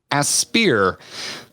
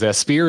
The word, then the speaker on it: Aspyr: Aspyr, which I think is the way to pronounce it, recently having remastered Star Wars Republic